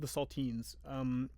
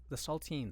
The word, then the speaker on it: Saltines: Yeah, no, but the Saltines. the Saltines, like yeah. the crackers. No, but spelled like teens, like teenagers. Oh, okay. Saltines, okay.